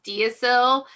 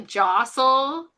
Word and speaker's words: deosil: Wittershins is counterclockwise and jostil is how you pronounce that word. That's looks like it's dasil but it's really jostel.